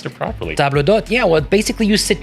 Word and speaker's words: table d'hôte: I Like almost you pronounced just it properly. table d'hôte.